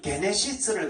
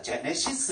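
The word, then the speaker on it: γένεσις: 그래서 저거들은 게네시스를 갖다가 영어로는 그게 발음을 못하는지 어쩌는지 이걸 갖다 제네시스 이래요.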